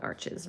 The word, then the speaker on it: Arches: using, I am using arches, as it's more commonly known in the US. It is a French paper, so so it is supposed to be pronounced arche, I guess, but we call it arches around here.